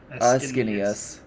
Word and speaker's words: Ascanius: So the C is heavily pronounced and it's inny, like skinny. Ascanius.